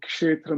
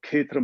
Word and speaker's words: Kshetra: by a man called Kshetra Mohan Goswami, or Ketra Mohan, if you want to go by the Bengali pronunciation.